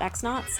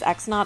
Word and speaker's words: X-Naut: There is some evidence to suggest that they might actually be called cross knots, not X knots. However, I believe that since Goombella says An and then says X knot, I think it's pronounced X knot.